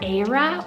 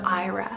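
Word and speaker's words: Eira: could work as well there's actually two different pronunciations because it is a welsh originated name it's either ara or ira spelled e-i-r-a this one's totally perfect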